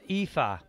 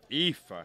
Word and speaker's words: Aoife: on the bar and I have checked the pronunciation Ralph if it was Eva Eva okay oh well she hit